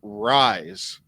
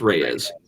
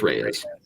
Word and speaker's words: Reyes: what I did know I knew it wasn't rise which I heard people like I've heard people pronounce it as Dominic rise like no I